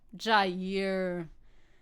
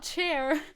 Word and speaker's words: Jair: Jair. Not chair. Jair.